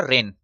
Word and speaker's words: reign: इसको हम रीजन नहीं बोलेंगे, ये इसका सही उच्चारण होगा रेन।